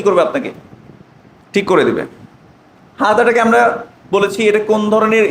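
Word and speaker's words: هذا: আমি যদি এটা বলতাম হাদা হাদা, তাহলে এটা কি হবে? ভুল। আমাকে উচ্চারণ করতে হবে, হাতও একালিফ টানতে হবে, হাদা। কি বলবো? হাদা। এখন কেউ যদি বলে হাজা, তাহলে কি হবে? ভুল হবে।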